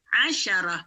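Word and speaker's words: عشرة: angka 10 tulisannya seperti ini dibacanya asyarah asyarah dengan Ain dan syin asyarah asyarah asyarah baik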